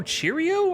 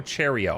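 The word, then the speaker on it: Hi Ho Cherry-O: You don't know Hi, Cheerio. Are you a millennial or a Zoomer? Hi, sorry. Hi Ho Cherio. I just pronounced it Cheerio because that's what I said when I was a kid.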